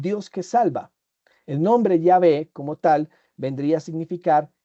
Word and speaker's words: Yahvé: Y aquellos ancianos que aunque conocían su nombre, que repito, según los estudiosos, la pronunciación más cercana es Yahvé, tenían que entender lo mismo que entendió Moisés.